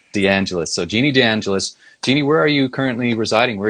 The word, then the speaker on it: DeAngelis: butcher your last name so how do you pronounce it correctly please DeAngelis DeAngelis so Jeannie DeAngelis Jeannie where are you currently